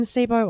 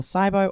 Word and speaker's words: SIBO: that they don't either believe in sibo or cybo or sibo there's all sorts of ways to pronounce it um and uh it's